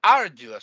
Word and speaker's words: arduous: Another case, if one manages to remove Bauddha Jnana by an arduous study of the Bhairava scripture, not reading 15 minutes every day, no, arduous.